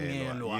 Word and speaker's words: Msongelwa: The name is Ndebele, so people cannot pronounce it. So the Msongelwa, that is where came from, because they cannot pronounce the Msongelwa. Msongelwa.